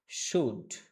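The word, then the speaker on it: should: এটা শোনেন এটা হচ্ছেশুড এখানে ল হবে না এল এর উচ্চারণ হবে না উচ্চারণটা হবেশুডশুড তো এই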